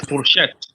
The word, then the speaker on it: fourchette: But just know that the fork is fourchette. Fourchette. That's the one used for eating. Fourchette is spelled F-O-U-R.